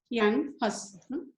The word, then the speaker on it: Jan Hus: J is pronounced as year. Jan Hus.